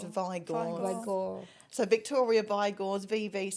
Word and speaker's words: Vigor: it does, everyone always pronounces it Vigors, but it's only got one G, so it's Vigor.